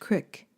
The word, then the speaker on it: creek: Down there was the creek, pronounced cick in those parts.